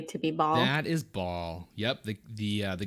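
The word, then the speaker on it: Bhaal: know that already to be bald that is ball yep the the uh the god of murder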